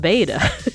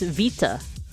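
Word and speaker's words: βήτα: Apparently it's not beta. Like, apparently if you're like a native Greek speaker, it's vita. It's vita.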